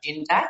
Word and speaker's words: Gindac: And yes, you did say or pronounce my name correctly. It is Gindac.